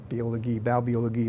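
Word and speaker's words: Baubiologie: US B being the German word for building bi bologi is the way they pronounce it in Germany we call it building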